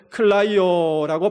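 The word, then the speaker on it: κλαίω: 여기서 우신여라는 말은 클라이오라고 발음하는데 여러분 그 주님의 울음은 내 심령 속에 누르면서 ידע며 우는 울음이 아니라 내 가슴에 있는 그 울분 그것을 다 드러내면서 통곡하는 울음이었습니다.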